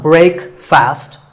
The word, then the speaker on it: breakfast: The proper pronunciation is not break fast, it's breakfast. Break with a short eh sound and fast with an sound. So breakfast.